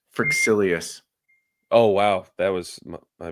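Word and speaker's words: Fryxelius: I think it's pronounced Frixilius.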